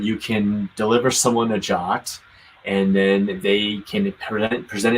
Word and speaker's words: JWT: quick let's talk about jots so it stands for json web token it's pronounced jot and it's a standard